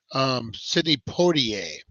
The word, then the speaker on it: Sidney Poitier: Sidney Poitier, is I believe the right way to pronounce that.